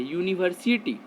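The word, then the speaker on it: university: जैसे एक last example है यूनिवर्सिटी, यू तो आपका ववेल लेटर है, आप तो यही समझ रहे होंगे ना, यू ववेल है तो इसके पहले एन लगेगा।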